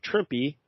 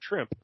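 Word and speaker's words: Trimpe: for this issue is Herb trimpy rhymes with shrimpy that's uh Mike L taught me how to say his name he's always thought it was her trip he says no yeah me too all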